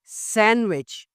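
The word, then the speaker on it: sandwich: रुमाल इसमें डिसाइलिड है सैंडविच सैंडविच यहां भी डी साइलेड है सैंडविच मसल पत्ता कबड्ड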